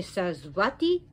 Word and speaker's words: Sarasvati: the omara and remember in sanskrit the v is interchangeable with the w so you could say says vati is interchangeable with the